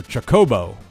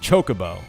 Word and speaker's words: Chocobo: for for pronunciation uh you did put the accent on the second syllable so Chocobo not Chocobo interesting we had a